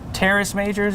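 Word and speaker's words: Teres Major: We also, from our friends at Lynx, we have gotten a cut called the Tres Majors. Terrace Majors is another way people like to pronounce it.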